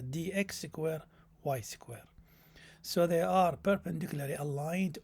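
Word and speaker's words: dx²−y²: It's not minus, but we pronounce it as dx square y square.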